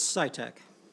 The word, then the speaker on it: Sitek: in pronouncing your name it's scitec scitec yes thank you oh